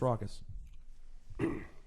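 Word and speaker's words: Rawkus: records is not pronounce Ruckus but it's actually pronounced raucous amen wait wait I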